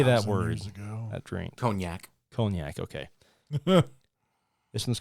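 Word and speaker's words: cognac: how do you say that word that drink conac conac okay this one's called not all heroes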